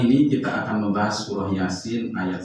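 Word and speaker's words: Yāsīn: Banyak yang membaca seperti ini. Yasin wal Qur'anil Hakim. Karena apa? Karena memang ada bunyi nun, kemudian ada waw, dianggap gunnah. Nah, padahal yang sahih adalah tetap bacanya Yasin wal Qur'anil Hakim kalau diwasolkan.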